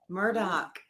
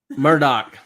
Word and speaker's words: Murdaugh: there thinking about it people ask or wonder why he pronounces his name Alec or murtal Murdoch Murdoch sorry it's gonna be difficult tonight well I think it's it's partly because of the Scottish influence in the lowlands in the region in the uh yeah in the Low Country there in South Carolina that is a Scottish or Gaelic pronunciation and you know I